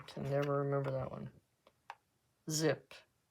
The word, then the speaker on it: Xyp: never remember that one ZIP xyp is pronounce zip okay um let's try